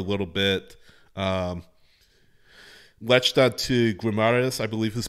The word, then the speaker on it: Guimarães: Latched on to Guimarães, I believe is pronounced, for a few years.